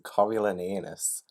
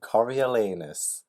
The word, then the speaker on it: Coriolanus: firing angle okay guys the first word is Coriolanus I've said it wrong Coriolanus Coriolanus I forgot that was President Snow's name but